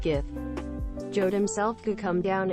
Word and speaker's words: GIF: went up and said it's pronounced Jeff not GIF jod himself could come